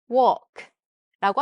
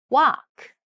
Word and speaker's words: walk: 그다음에 L 같은 경우에는 여기 이제 중간에 있는 L 같은 경우엔 발음에 신경 쓰지 마시고 그냥 walk, walk라고 하시면 되는데 좀 미국 몇 개 발음 정확히 다는 아니겠죠? 그래서 미국에선 또 walk가 아니라 walk, walk라고 하기도 한대요.